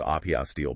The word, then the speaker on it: apostille: An apostl, and it's pronounced API steel, by the way.